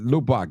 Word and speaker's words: Lubbock: I said Lubbock, that's how you pronounce it.